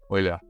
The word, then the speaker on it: Euler: the thean deson the component will be the oiler it's Oiler oan description and the proponent is